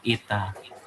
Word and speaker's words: eta: n tapi ini adalah huruf H Yunani nih bacanya Ita Oke ini adalah kurva